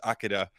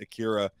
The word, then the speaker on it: Akira: But when Tetsuo, when he becomes fully powered and they think he's Akira, we got to correct ourselves from the first part of this because we've been pronouncing it Akira. It's Akira.